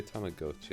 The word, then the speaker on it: Tamagotchi: They say Tamagotchi. I don't like that. Apparently that's the right one. I know that's how you say it. I didn't know that. It makes sense because it's like, was it Tomago is egg? Yeah, Tamago's egg, and also like the whole Japanese pronunciation thing.